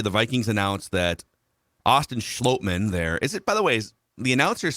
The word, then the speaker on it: Schlottmann: I guess if the announcers Jim Nantz called him Schlottmann. Yeah, I think if Jim Nantz. Yeah, I would guess that Jim Nantz got the official pronunciation.